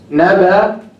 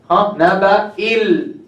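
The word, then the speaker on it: نبإ: So naba'i, it has kasra. This is not pronounced whether you connect or disconnect. So you say naba if you stop. If you connect, naba'il.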